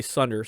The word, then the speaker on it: tsundere: The girl's totally tsundere. Oh, did I say that right? Did I finally say it right? Tsundere tsundere. Yeah, holy shit. I always botched that word.